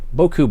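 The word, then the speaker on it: beaucoup: that's just boku box or buku box well in french it's boku and i guess vietnamese it's buku i i don't know that's that's the way they say it in the vietnam movies all right so um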